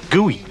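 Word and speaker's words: Guy: She and Gooey are the only family I've got. Who's Gooey? The lad. Funny nickname. It's not a nickname. That's what he's called. Well, that's his real name, Gooey.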